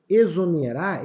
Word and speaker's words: exonerar: espelir e extinto Ok repara que exonerar ele tem um som de z tá vendo espeli e